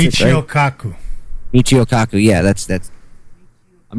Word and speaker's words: Michio Kaku: Mika Kaku, isn't that how you pronounce it? Michio Kaku.